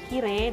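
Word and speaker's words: きれい: Oh, tidak bisa, karena Kirei dan Yume itu diucapkan Kire dan Yume, sehingga akhirannya tidak terdengar huruf i-nya, yang terdengar adalah huruf e.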